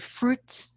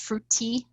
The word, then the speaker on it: fruit: end, like Somali learners, the word fruit is often pronounced fruity.